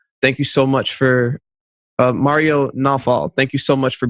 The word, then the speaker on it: Mario Nawfal: It's Mario Nawfal.